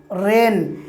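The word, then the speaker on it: reign: আর এস আই জি এন রিজাইন রিজাইন রিজাইন মানে হচ্ছে কি পদত্যাগ করা আরেকটি উদাহরণ দেখুন আর আইন রেন রেন মানে হচ্ছে কি রাজত্ব ঠিক একই রকম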